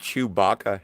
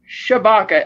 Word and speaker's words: Shabaka: Yeah, you're talking Jerry about Chewbacca Henley? No, Shabaka. Oh, Chewbacca? Shabaka, Shabaka. Chewbacca. Yeah, no, Shabaka. Okay. I'm not going to say it again because I've already decided how to pronounce it.